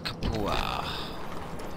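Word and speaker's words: Capua: Kapua. That's how you pronounce it.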